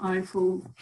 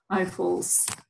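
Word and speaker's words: eIFL: last the later uh as we call Eiffel Eiffel uh geography so who we are Eiffel stands for not for Eiffel inter but it's it's electronic information for libraries pronounced in very Lithuanian way because some part of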